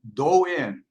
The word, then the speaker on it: Do-In: and I'm promoting this uh massage technique called doe in I call it mindful self massage okay that's what we're gonna be talking about today okay now I I mispronounced I said doing it's actually dough yeah the website is right